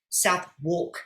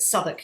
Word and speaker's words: Southwark: actually had different laws and rules with southwark south walk it's spelt but southwark is the way it's pronounced and um there